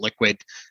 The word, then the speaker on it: LQwD: So, and our Liquid is spelled LQwD, the same as our Toronto Stock Exchange ticker. And so a lot of people just call it, hey, LQwD. We call it Liquid, but we're Liquid FinTech,